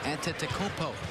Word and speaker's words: Antetokounmpo: of himself because he thought he had the pronunciation down for Giannis' name and kept calling him Antetokounmpo.